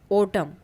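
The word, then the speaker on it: autumn: कुछ और एग्जांपल है इन the words given below the letter N is silent अपीयरर्स with M एट द एंड ऑफ़ the word जैसे हाईम kolam ओटम सोलम तो इनमें क्या है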